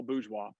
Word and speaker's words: Bourgeois: Jean Paul Bourgeois. Bourgeois. See, that's a Yeah, cool name. like Bougie. bougie, but Yeah. bourgeois.